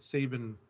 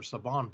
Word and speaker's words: Saban: Jason Bischoff, the former director of global consumer products at Sabine Brands or Saban Brands, I think it's actually pronounced, has revealed a pitch